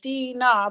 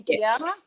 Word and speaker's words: Dina: Some people have a hard time, like it's spelled correctly, like Dina, but some people want to put the A in there and call me Deanna. Yeah. So then they have to spell it Deeee and then NA, and so hopefully they get the Ina, the Dina.